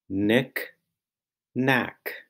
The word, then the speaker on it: knickknack: is spelled m b the n Sound in knickknack is spelled knen the M sound in